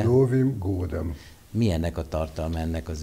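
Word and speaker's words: С Новым годом: Ez az, kérdezzük a megfelelő napközist, akkor még egyszer helyesen kiejtve. Szlovim Gódem.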